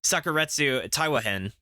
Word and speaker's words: Sakuratetsu Taiwa-hen: corrupted at this point but the series is pronounced sakuretsu taiwahen Sakura tetsu oh sucker Sakura